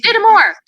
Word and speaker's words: Dittemore: I want to make sure I pronounce it correctly. Dittemore. It's easy. Dittemore.